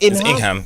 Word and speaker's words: Ingham: How you pronounce it? Ingham. Ingham. Yes. It's like Birmingham because it's a city in England.